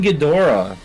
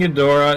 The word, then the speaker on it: Ghidorah: lot of things well uh we've got king ghidorah the hydraegon oh i love hedgehog he spell that for me ping g-h-i-d-o-r-a-h that's two words